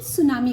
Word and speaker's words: tsunami: देखिए ये टी सुनामी है लेकिन उसका प्रोनाउंसिएशन सुनामी करके किया जाता है.